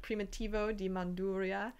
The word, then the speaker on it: Primitivo di Manduria: prima tivo di manduria so we have some pronunciations here for you puglia and primitivo di manduria um this dop is one of the more